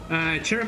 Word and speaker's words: cherub: Cherub like Cherry.